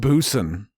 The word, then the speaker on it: Busan: i was watching train busan at the right time maybe i would have shed a tear it was sad it's pronounced busan and you know what